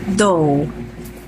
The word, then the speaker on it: dough: So come on, please join me in enhancing our pronunciation skills today. So let's have the first word. Dough.